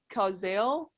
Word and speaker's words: Cazale: John Casal, the actor. Is that how you say his name? Yeah, Johnny Cazale.